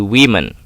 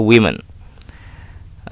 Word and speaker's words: women: Tetapi beda pengucapannya. Kalau ini diucap di pronunciation-nya woman, di sini menjadi women. Oke, ingat ini ya, women.